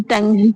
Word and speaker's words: tongue: जैसे टंग, टंग में क्या है, ये टंग, टंग तो TONGUE, तो यहाँ पे क्या है, यू साइलेंट हो गया, यहाँ पे सीधा क्या है, टंग पड़ा गया है, ओके।